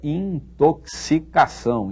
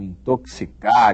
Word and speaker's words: intoxicação: pronuncia muito bem aí uma palavra que muita gente não sabe pronunciar não muita gente pronuncia mal eh a palavra é intoxicação intoxicar intoxicado E por aí vai é assim que se diz isso não é intoxicar não é intoxicado não é intoxicação nada disso e não é tóxico